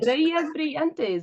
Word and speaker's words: Estrellas Brillantes: Try it. Estrellas Brillantes. That's it. Well done. Yeah. Is it? Is that good? Estrellas Brillantes. Yeah. Oh, you It's say double L.